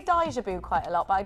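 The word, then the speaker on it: 大丈夫: Daijabu. They say it like that. Not daijabu, like I says it.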